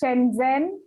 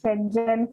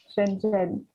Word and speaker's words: Shenzhen: It's it's Shenzhen for a Kenyan, Yes. but it's Shenzhen for a Chinese person. Shenzhen.